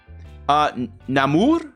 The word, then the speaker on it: Namor: Now, Namor is how they pronounce it over there in the movie.